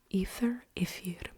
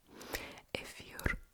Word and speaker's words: эфир: So the Greek words in Russian they have F in them, F, and in English they have TH sound. So ether. And in Russian Ifir means something else.